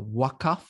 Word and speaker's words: Waqf: I pronounce it the Waqf, which is the local vernacular pronunciation of this instrument, and I'll explain to you in a short while.